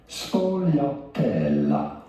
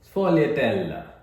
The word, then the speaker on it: Sfogliatella: How do you go about pronouncing it? Sfogliatella. അപ്പൊ ആ സാധനത്തിന്റെ പേര് സ്ഫോലിയറ്റെല്ല. Want to stress on the T syllable. Sfogliatella.